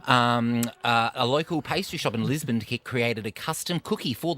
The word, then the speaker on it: Lisboa: to Lisbon or Lisboa, as the locals say.